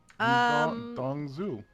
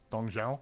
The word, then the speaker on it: Dong Zhao: I would like to point out to you, Chris, that you did not pronounce that name correctly. Tongswall. I was not trying to. Did I pronounce it right? That was closer. Dong Zhao?